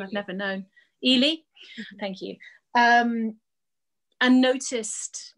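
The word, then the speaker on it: Ehle: and prejudice the colin firth version and jennifer ellie um i'm not sure if that's how you say her name i've never known ely thank you um and noticed mrs hill and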